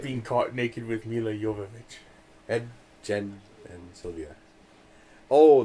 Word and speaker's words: Jovovich: And, just movies with Mila Jovovich and Demi Moore. And say her name right? Who? Mila Say her Jovovich? name. There you go. Yeah, the J is a Y.